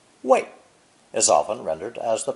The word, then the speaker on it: 为: So, this forward-moving elephant, when pronounced fourth tone, wei, is often rendered as the preposition for in English.